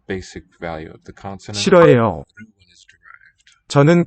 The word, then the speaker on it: 싫어해요: So a nice silent H here in that initial syllable. It's got nice 4-part structure. One for each corner. And they're 싫어해요. 싫어해요. SILH, roughly. L will 싫어해요. as more of an R, between vowels.